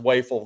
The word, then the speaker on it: Wafel: It's pronounced Wafel, those in the chat.